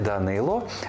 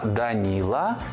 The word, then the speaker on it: Данило: згідно з російською вимовою не Микита а нікита не Кирило а кирл не Данило А даніла чи Даніїл без сумніву батьки мають